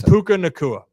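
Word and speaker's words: Puka Nacua: mine was just technology I'm so pissed it's puka nakua okay no I mean that's what I'm saying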